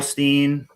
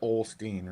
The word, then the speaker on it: Osteen: Here's Everybody pronounces it Olstein, right? Here's a good one. Because I thought that's what it was. But where's the L at? Is Phillips with Olsteen? No, Osteen.